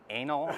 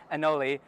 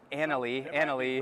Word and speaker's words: anole: I mispronounced that as anal on Instagram, and I never heard the end of it, so now I'm like hesitant to even try to pronounce it. But I believe it's anole or anole.